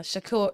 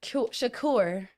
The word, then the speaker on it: Shakur: respected him as Tupac if he was uh Shakur Shakur or whoever he was when he was acting and doing ballet.